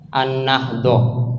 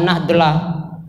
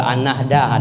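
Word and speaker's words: النهضة: situasi di Pondok Pesantren An-Nahdoh. Jadi An-Nahdoh, jangan dibaca An-Nahdlah, ya, jangan sampai kalian lihat tulisannya dibaca An-Nahdlah, tapi bacanya An-Nahdoh. Ya, ya, bisalah dibenarkan sedikit kalau An-Nahdah, ada juga An-Nahdah.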